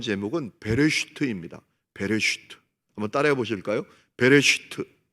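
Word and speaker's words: בראשית: 제목은 베레스트입니다 따라해 보실까요 베레스트 발음을 잘해야 돼요 배를 슈트 히브리어거든요 영어로 번역하면인 더 비기닝입니다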